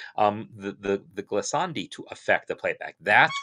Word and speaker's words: glissandi: the ability for uh these glasandi uh yeah i'm pronouncing it in italian um the the the glissandi to affect the playback